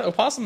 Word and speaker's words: opossum: not opposum posum and fun fact opossum is spelled with a weird o at the beginning that's silent yes uh right yes